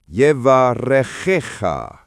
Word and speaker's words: yevarechecha: First word, yevarechecha. Phonetic, yevarechecha. The ch sound is guttural, like clearing your throat, not a hard K. Emphasis falls on the second to last syllable.